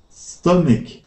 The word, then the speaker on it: stomach: now on this word the CH at the end of the word is actually pronounced like a k stomach there you go stomach